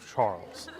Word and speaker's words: Chartres: Miss Lob says it's pronounced Chartres.